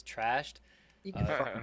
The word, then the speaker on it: Trashd: I've been calling him Trash D, but I guess I've been pronouncing it wrong. It's Trashed.